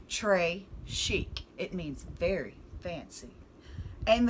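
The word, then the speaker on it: très chic: a bracelet tres chic you say it like this tre chic it means very fancy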